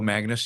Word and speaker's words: Magness: Uh I'm really thrilled uh to uh to have uh Phil Magnus here. Am I pronouncing that right?